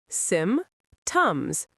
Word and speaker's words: symptoms: Symptoms. Sim-tums. 2 syllables.